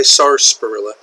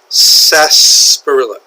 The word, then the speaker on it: sarsaparilla: Rufus Xavier Xavier sarsaparilla there's an R here but we don't really pronounce it we don't say sarsparilla sarsaparilla Rufus Xavier sarsaparilla okay